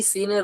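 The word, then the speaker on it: سين: যে বিষয়টা জানতে হবে, সিন উচ্চারণ করার সময় আমাদের মুখ থেকে এক ধরনের আওয়াজ বের হবে, এরকম একটা সিটির মতো আওয়াজ বের হবে। সিন সিন, মনে করেন বিসমিল্লাহ, বিসমি বিসমিল্লাহির রহমানির রহিম, বিস, এই সিনের মধ্যে এই আওয়াজটা থাকবে। হ্যাঁ এই সিনের মধ্যে এই আওয়াজটা থাকলেই সিনের উচ্চারণটা পারফেক্ট হবে।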